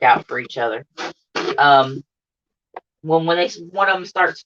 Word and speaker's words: Nguyen: his nationality but his his last name is when but it's spelt n-y-g-u-e-n so i want to